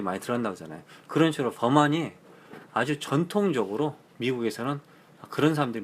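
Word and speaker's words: Vermont: 버만트. 원래 발음을 할 때는 버만 하거든요. 트가 안 들어가더라고요.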